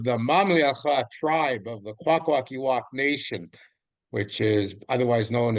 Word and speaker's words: Kwakwaka'wakw: Your tribe name is Kwakwaka'wakw.